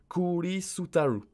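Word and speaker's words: クリスタル: Pour cristal, on va écrire kuri, kuri, kuri, pour le CER, kuri, kuri sutaru, kuri sutaru.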